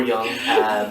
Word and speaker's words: Jung: Jung or Young. There doesn't seem to be an accepted pronunciation anywhere I look. I prefer Jung because it makes me sound like I know more about him than I do.